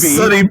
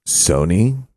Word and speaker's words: Sony: Old Sunny picks. Hey, movie. Right. Hey, Sunny. It's pronounced. Tarzan. It's pronounced Sony.